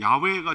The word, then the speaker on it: 야훼: 함부로 부를 수 없는, 야훼가 정확한 발음인데 이 발음이 구전이 안 된 이유는 워낙 거룩한 분이기 때문에 찬양을 받으실 분, 찬송을 받으실 분, 이런 식으로 둘러서 얘기를 해서 그 발음이 안 나오는데, 그냥 하나님께서 스스로 자신의 이름을 밝힐 때 그 억양, 그 사운드는 여호와는 우리로 표기한 거고요, 좀 더 어원에 가까운 야훼 하나님이에요. 야훼 하나님.